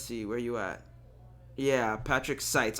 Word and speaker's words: Patrick Seitz: Yeah, Patrick Seitz. All right, I said it wrong. Patrick Seitz.